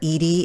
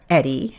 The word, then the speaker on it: Edie: Edie is a female name. It's not Eddie, even though it's spelled E-D-I-E.